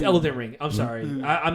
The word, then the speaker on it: Elden Ring: it I believe it I thought it was Elden ring Elder ring yeah I'm sorry Elder ring Elder ring I'm sorry did I say it wrong I'm sorry scoss is uh it's a good another okay it's elant ring I'm sorry I'm not